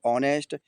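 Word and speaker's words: honest: दूसरी मीनिंग है ऑनेस्ट। इसमें ओ के पहले एच आया साइलेंट हो गया।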